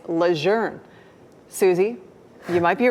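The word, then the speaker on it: Lejeune: Susie wrote in saying, "I have never heard anyone on your station pronounce camp lune correctly. They always say lune. It's not that. It's leour."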